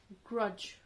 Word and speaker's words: grudge: So now here the D is silent. You didn't say the D word, grudged. Oh, doesn't sound right, right? Just grudge. Just a j sound will come out, okay?